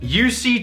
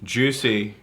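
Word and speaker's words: Jussi: UC. That's not UC. Yeah, It's a J. yeah, UC. Juicy. Juicy.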